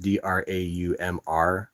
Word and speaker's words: draumr: Yes, the dromer comes from dream in Old English, but it's pronounced Draumr.